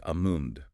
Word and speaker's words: almond: While the L is often pronounced in American English in the classic RP or received pronunciation standard, the L is silent or at least barely perceptible. It leans towards amund or amund.